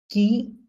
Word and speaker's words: qui: কিউ এর পরে ইউ আসলে এটা মোস্ট অফ দা কেসেস কি ইউটা সাইলেন্ট থাকে, ঠিক আছে, সাইলেন্ট থাকে। সো তাহলে কি হবে? হু এবং টি আই কে আমরা কি বলি? ই, ই, রাইট? তাহলে ই মানে রস্যিকার বলতে পারেন বাংলায়। তাহলে কি হবে? এটা কি হবে? কয় রস্যি কি। ঠিক আছে? কি সাউন্ড আসবে। কি।